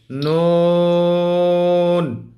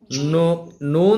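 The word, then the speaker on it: ن: তাহলে নুন যখন পড়বেন তখন দুইটা ঠোটকে একবারে চোক্কা বানাবেন। গোল করবেন। গোল চোক্কা বানাইয়া যখন উচ্চারণ করবেন তখন নুন আওয়াজটা সুন্দর চলে আসবে।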